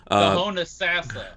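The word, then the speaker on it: Homosassa: Honasassa. The Honasassa? That's how it's pronounced.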